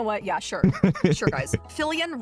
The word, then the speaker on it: Filian: Fillian rhymes with aliens.